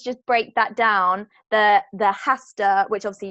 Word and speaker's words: hasta: break that down the hasta which I'll see you don't pronounce the H and then the manana I know mañana means tomorrow so see you hasta mañana a CH or